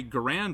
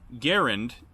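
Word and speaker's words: Garand: pretty cocky for not being able to say grand right garend is how you say his name well um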